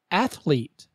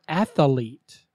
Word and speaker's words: athlete: reproduce word number 9 say athlete not at the leat there is no a in the middle example good athletes train